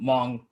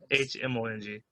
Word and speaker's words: Hmong: Also, for those who don't know, Hmong is spelled with an H. Yes, Hmong.